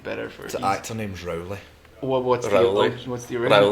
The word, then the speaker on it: Rowley: Yeah, and you said my name wrong about 1,500 Mark times. Rowley. Rowley, but that's fine.